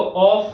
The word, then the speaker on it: of: इसको ऑफ नहीं बोलते, दिस इज ऑफ, व का साउंड आएगा, ठीक है, ऑफ, राइट।